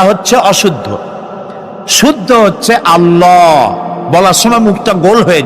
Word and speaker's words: আল্লাহ: আল্লাহর নাম আল্লাহ বলেন তো আল্লাহ নয় কিন্তু আল্লাহ হচ্ছে অশুদ্ধ শুদ্ধ হচ্ছে আল্লাহ বলার সময় মুখটা গোল হয়ে যাবে বলেন তো সবাই উচ্চারণ করেন আল্লাহ আবার বলেন আল্লাহ আবার বলেন